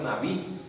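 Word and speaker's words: נביא: En hebreo, la palabra profeta se pronuncia Nabí y significa el hombre de Dios, el varón de Dios.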